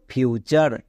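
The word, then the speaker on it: future: হয় না তাই দেখো টি ইউ আর ই এটা একটা ওয়ার্ড প্যাটার্ন এর উচ্চারণ হয় চার তাই এখানে কোন রুলস ফলো করতে যাব না তাই এটার উচ্চারণ কি দাঁড়ালো ফিউচার next D ইউ টি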